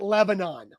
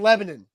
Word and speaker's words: Lebanon: at nashville super speedway in lebanon it's not lebanon it has never been lebanon wilson county hyundai is not in lebanon it's in lebanon lebanon it's not demon bruin street it's demumbrian